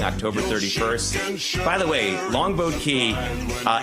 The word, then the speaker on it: Longboat Key: By the way, Longboat Key, uh, you almost never hear the person pronounce the T in the boat part of Longboat Key and so growing up